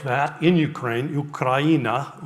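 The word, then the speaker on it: Україна: Ukraina. Ukraina is how you would say that.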